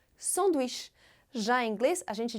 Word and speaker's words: sandwich: No geral, a sílaba forte das palavras em francês é sempre a última. Isso também pode acontecer com a palavra sanduíche, porque a gente capricha no som de sh, sanduíche.